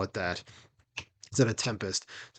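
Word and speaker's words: 7empest: And then we have Tool with, is it Seven Empest? I know it's Tempest, but it's like you're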